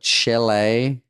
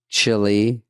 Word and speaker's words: Chile: Did you know I saw that Chile, you're saying it wrong. Chile. Chile.